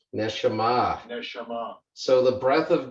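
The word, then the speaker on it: נשמה: So if you go back to the tools and we can look down, so let's see how they pronounce this one. Strong's H 5397. Neshama. Neshama.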